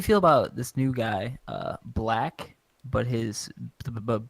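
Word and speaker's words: 6lack: a big problem because everyone was calling him sick slack and then he put out a hoodie where it's like six leg is pronounced black to clear things up for everybody yeah well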